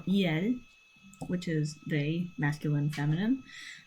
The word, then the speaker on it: il: Um, now we have il or eel, which is the masculine feminine.